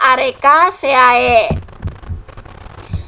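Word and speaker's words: Arecaceae: dari suku pinang-pinangan atau dari archae ke ini bacanya archae Nah kalau pohon kelapa dia dari jenis atau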